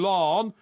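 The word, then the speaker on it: Laugharne: children when the family lived in Lorne which is spelled Lohan l-a-u-g-h-a-r-n-e where's that it's on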